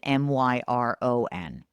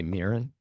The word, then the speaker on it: Miran: Don't spell your name Miran and pronounce it Myron. Don't do that to us. Did you say Mirren? I thought it was Moran, which is what I